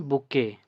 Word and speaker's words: bouquet: वन बुके, ये जो word है इसको, इसमें स्पेलिंग है BOUQUET, जिसमें क्यू जो है वो साइलेंट रहता है, इसमें कैट को हम के ही पढ़ते हैं, सिर्फ QUE का ही साउंड आता है के।